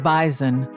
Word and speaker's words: Bison: The North Dakota State Bison, pronounced by locals with a Z, not an S, is the football program